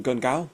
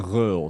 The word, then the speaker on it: Gun Ghaol: So if you want to get it the the authentic way, it's gul.